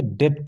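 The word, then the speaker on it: debt: दोस्तों साइलेंट होता है देख लीजिए एग्जांपल जैसे डेट तो क्या पढ़ेंगे डेट पढ़ेंगे बल्कि डेप्थ नहीं पढ़ेंगे ठीक है और दूसरे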